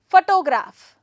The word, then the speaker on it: photograph: and meaning for example photograph stress the first syllable photograph okay how are you going